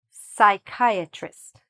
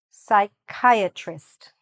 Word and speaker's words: psychiatrist: Forget the "p", the "p" is silent, okay? The rest of it might help you a little bit. "Psychiatrist", say it after me, "psychiatrist".